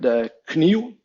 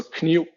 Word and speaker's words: kniv: an example of that would be the word kniv, the word for knife. So kniv, K-N-I-V. The last letter, that would be a V historically, but has been weakened to a U kind of sound. So kniv instead of kniv as it would have been.